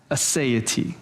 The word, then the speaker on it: aseity: It's aseity, right? It's A-S-E-I-T-Y, aseity.